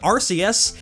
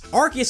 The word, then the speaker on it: Arceus: But Pokemon Battle Revolution called it Arceus, and one movie trailer called it Arceus. So all three are valid pronunciations. Arceus is just the one the anime chose, on account of this